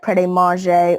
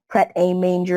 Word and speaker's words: Pret A Manger: to eat something, maybe go to that Pret a Manger or Pret a Manger as it's spelled place.